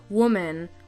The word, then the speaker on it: woman: words women and woman the difference in spelling is in the man or men part at the end but the difference of pronunciation is did in the beginning woman women some words have changed